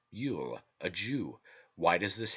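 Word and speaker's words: Iúil: them cannot remove it it is Yul l-u-i-l pronounced Yul a Jew why does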